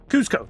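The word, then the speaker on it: Kuzco: Cusco.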